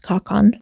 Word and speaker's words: ka/kan: Alex Easton, a sworn soldier, pronounced Kakan, from a country of Galicia, which is somewhere